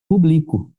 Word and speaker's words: publico: Se você falar que é o verbo, vai ficar assim, ó, eu publico. Tá vendo? Eu publico. Então, isso não é o público, né? É eu publico.